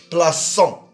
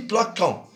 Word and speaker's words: plaçant: mais au pluriel, ici, on doit ajouter un CCD pour le « c », pour le prononcer « plaçant ». Si on ne met pas le CCD, on dit « plaquant ».